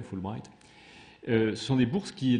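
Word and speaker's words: Fulbright: été créer les bourses full bright comme ça se prononce en anglais full bright ce sont des bourses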